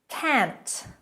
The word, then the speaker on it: can't: Can't, not can't, can't. Make sure you pronounce that T.